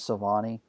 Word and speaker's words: Silvani: that he's had Ted stones do and James Silvani do I say his name right you did